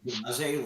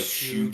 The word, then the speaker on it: Shugaze: Shugaze, like it's spelled Like like shoegaze.